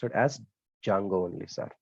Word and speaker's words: Django: completely maintained by dsf1 dijango also pronounced it as jungle only sir not Django D is silent also pronounce it as